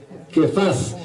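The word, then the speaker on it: Kepha: vuelta de hoja y Pedro en el arameo pues se pronuncia que paz y que traducido al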